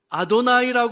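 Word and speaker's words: אדני: 때 우리는 이렇게 발음하지만 유대인들은 그걸 아도나이 발했어요 아도나이 우리가 구약에 여호와 야회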